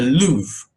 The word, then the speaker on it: Louvre: and there's Museum here let's just repeat the pronunciation in English the Louvre the Louvre Museum Luth the Louvre museum in